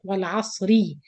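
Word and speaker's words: والعصر: Ra Kasra, that means you pronounce it light. Wal Asri. So Waslan, it will be light Ra or Tarqiq.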